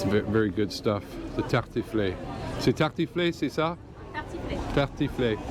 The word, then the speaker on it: tartiflette: You have to pronounce the et at the end. Tartiflette.